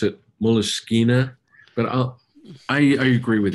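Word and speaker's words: Moleskine: covers and it spray more of a French pronunciation of all I think they I love moleskin but I think think they pronounce it meliss kina but uh I agree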